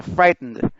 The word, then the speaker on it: frightened: Especialmente por esta parte de acá en donde solo se pronuncia el sonido de la N y la D.